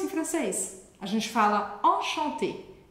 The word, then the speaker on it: enchanté: A gente fala enchanté. Enchanté, a pronúncia é idêntica no feminino e masculino. Mas no feminino a gente vai escrever com um E a mais. Mas a pronúncia é igual, tá?